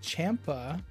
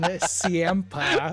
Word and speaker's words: Ciampa: On right wing, we're getting Ciampa, pronounced Champa, which I never knew. And he's been in the league for how many seasons? But I do like Champa better. Then Ciampa.